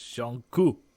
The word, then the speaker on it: Jungkook: No, I looked up how to pronounce his name just for everybody. It's Jungkook.